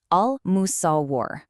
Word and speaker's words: Al-Musawwir: Pronounce it slowly with me. Al-Musawwir, the fashioner, the shaper of forms.